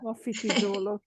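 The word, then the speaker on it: Mafikizolo: Mafiki Zulu.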